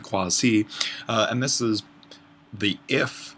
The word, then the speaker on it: quasi: english we'll want to make sure that's a long i in latin quasi and this is the